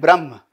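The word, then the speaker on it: Brahman: only Atma remember and Brahma and the second one is Brahma again a will come we say only Brahm but we write a young gifted in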